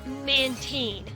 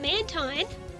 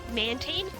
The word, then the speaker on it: Mantine: which is really annoying and uh so is mantine of course or is it mint? So, here's the thing. I heard somewhere that it is Mantine officially.